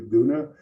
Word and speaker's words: Guna: briefly the uh uh the Gona people for a long time they were uh spelled with a K or a Cuna. Uh but recently the the people have taken a vote and they've changed their official titles to Goona.